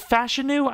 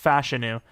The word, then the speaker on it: Fashanu: crazy Morgan Moses retires but fashanu is it fashu I swear his name's pronounced fashanu even though it looks like fashanu um he's